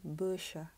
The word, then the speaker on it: Beuchat: 那后面的部分呢， CH 我们要发 sh 的声音， A 发 a 的声音， T 不发音，所以整个接起来就是 busha Bercha。